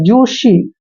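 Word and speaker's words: juicy: आई सी वाई देखिए जे यू आई का उच्चारण हम जू करते हैं और सी वाई को सी पढ़ते हैं जूसी जूसी क्या होता है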